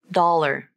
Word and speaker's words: dollar: So when pronouncing this word, you use a light L to link the two syllables. Dollar.